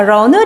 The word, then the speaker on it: 人: 인이라는 건 런 이렇게 발음이 돼요. 영어 발음하고 좀 유사하죠?